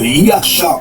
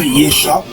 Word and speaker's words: Yasha: l'appui pour bien prouver que le nom de Yasha le Mashiach, c'est son nom qu'il a reçu de son père, et non Yesha, comme une langue prononcée avec la plume mensongère, avec un nom moderne, d'un hébreu moderne.